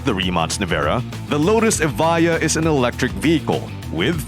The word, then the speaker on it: Evija: Just for clarity, Evija is spelled with a J but it is pronounced like it has a y. Evija.